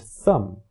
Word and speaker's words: thumb: Similarly, the B at the end of tomb, lamb, and thumb is no longer pronounced, but thimble still has it.